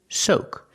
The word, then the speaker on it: soak: a long time pronunciation soak use the long o like no and go soak example before I